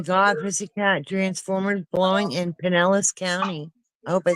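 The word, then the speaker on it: Pinellas: cat transformers blowing in Penllis County. I hope I said that right. Did I say that name correctly? Penelis. Good.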